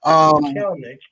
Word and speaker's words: Kelenic: Kelenic. It's Kelenic. Don't pronounce the extra E. It's just Kelenic.